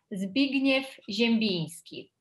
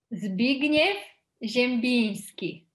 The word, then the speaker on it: Zbigniew Ziembinski: Então, bom, a pronúncia correta seria Zbigniew Ziembinski. Repete. Zbigniew Ziembinski. Ziembinski, tem esse N aí do Ziembinski tem um som especial, né?